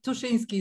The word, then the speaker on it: Tuszynski: last name that's uh i looked up the i just looked up how to do it in english but i don't know i mean tuscinski is the proper one but i i